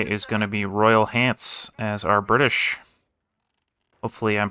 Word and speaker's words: Hants: going to be Royal Hants as our British. Hopefully I'm pronouncing that right. It's just H it's just pants but with an H.